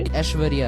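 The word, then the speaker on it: ऐश्वर्या: মূলত উচ্চারণটা কিন্তু এরকম হবে না, উচ্চারণটা হবে Aishwarya Rai.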